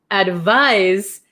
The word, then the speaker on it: advise: it's so tricky right advice has an S sound but it's spelled with a c advise has a z sound but spelled with an s h why is English